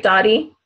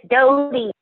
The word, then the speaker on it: Dodie: So I know, am I saying it right, Dottie? Am I saying it wrong? No, it's Dodie. Dodie, I'm sorry. What It's is Dodie. I'm putting a T in there, Dodie.